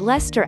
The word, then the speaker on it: Leicester: It may seem pointless, but Leicester actually has two syllables.